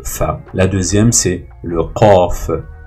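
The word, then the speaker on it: ق: La deuxième, c'est le qaf. Qaf, une autre lettre gutturale. Donc en fait, c'est un son qa.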